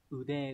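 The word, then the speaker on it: 腕: Vậy thì cái từ này sẽ đọc là ude đúng không?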